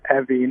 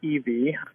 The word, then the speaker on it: Evie: my grandmother's name correctly it was Evie not eie so she'd be very